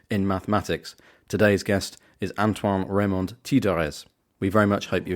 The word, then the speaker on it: Antoine Remond-Tiedrez: Antoine Remond-Tiedrez. I've tried my best to pronounce your name. Would you mind saying it yourself, just so I can hear the French pronunciation again? Sure. Antoine Remond-Tiedrez.